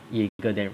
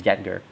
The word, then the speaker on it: Jaeger: Then we have Bora Warden Jaeger, I think it's Jaeger, Jadgr, Jaeger. I'll pronounce that as Jaeger rather than Jadger.